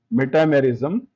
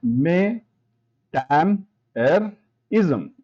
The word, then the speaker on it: metamerism: And this is where the dreaded word metamerism comes into play. Metamerism, pronounced may, tam, er, ism, is greatly misunderstood as